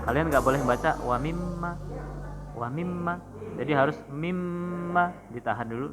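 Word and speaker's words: مِمَّا: Jadi bacanya ditahan 2 harokat. Jadi jangan cepet-cepet. Contohnya nih, tidak di materi itu ada. Contohnya wa mimma rozaqnahum, wa mimma, di mimma itu mimnya tasdid ya.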